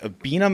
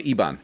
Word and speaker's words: Iban: Was it the Abina manhood ritual? Oh, the Iban.